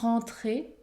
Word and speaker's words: rentrer: trouvait bien embêté pour rentrer. Ici, on va prononcer un seul R plus fort, pour rentrer chez lui.